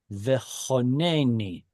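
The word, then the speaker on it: וְחָנֵּנִי: But as far as the form goes, how can we be certain it's Kamatz Katan? That I'll answer. The next letter has a doubling dagesh, which creates a closed, unstressed syllable, Kamatz Katan.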